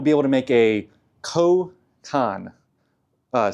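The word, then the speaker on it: chokkan: able to make a kan, uh, c h o k k a n. Uh, it's Japanese phonetic, so if I'm saying it wrong, give me a hard time in the comments.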